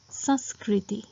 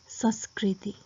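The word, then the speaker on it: संस्कृति: can use that pronunciation this is the another case where the word consists of sirabindu it is pronounced with nasal sound which is usually produced when there is a chandrabindu so the right pronunciation of these words is saskaran saskaran which means version or edition saskaran and saskriti which means culture saskrati so these this word sound is more like nasal so even though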